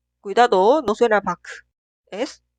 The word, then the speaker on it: 박: Pronunciar 기억 como consonante final. Al final de pronunciar, detener el flujo de aire. Por eso es casi inaudible. Esta sílaba se pronuncia 박, 박, 박. Suena como el 1, 박, pero no se pronuncia como el 2, 박. Debe detener el flujo de aire. 박.